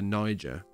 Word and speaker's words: Niger: Republic of the Niger.